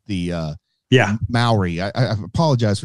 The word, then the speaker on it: Maori: filming in New Zealand and those are definitely mayori the uh yeah Maori I I apologize for not pronouncing it correctly but the definitely Maori folk